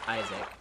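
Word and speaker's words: ISQQAC: Q accounts company AKA is QQ AC pronounced Isaac Isaac is an organization founded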